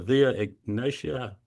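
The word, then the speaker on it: Via Egnatia: Is it the I'm see if I'm pronouncing this right, Dr. Dave. The Via Ignatia.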